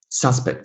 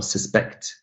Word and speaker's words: suspect: Now, if this word, suspect, for example, or suspect, if the word is a noun, suspect, then the stress falls on the first syllable. But if it's a verb, suspect, I suspect you, I suspect you, then the stress falls on the second syllable.